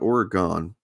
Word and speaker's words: Oregon: Oregonian I have to I have to correct you it's not Oregon it's Oregon okay I don't have to